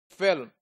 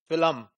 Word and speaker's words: film: burr in thimble similarly if you see film a lot of people would pronounce this filum they would add an a sound into it so this process is